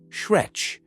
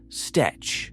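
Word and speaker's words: stretch: My wife watches American yoga videos, and for some reason, a lot of them say shretch, not stetch, etc.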